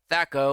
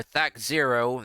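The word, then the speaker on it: THAC0: The days of Thaco or Thac Zero, depending on how you pronounce it, are gone.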